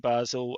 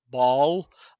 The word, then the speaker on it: Basel: Just depends if you're you speak French or German really or what area of the city.